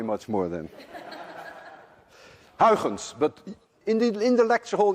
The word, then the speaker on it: Huygens: suggested by my countryman Huygens, which actually should be pronounced Huygens. None of you can say Huygens. And if any one of you can say Huygens, there is a 99.9% chance that you're Dutch.